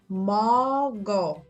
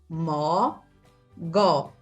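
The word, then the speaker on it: 모고: Não é K, porque não está na primeira sílaba, está na segunda. É som de G. Então, você vai ler aqui em cima, mó, vai pegar o som do G e unir com O. G com O faz Gó. Então, a pronúncia é mogó. Seria, basicamente, a pronúncia assim, mogó.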